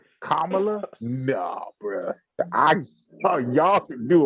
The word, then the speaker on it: Kamala: Kamala. I could have swore they were saying that wrong this whole time, but no, that's how you say it.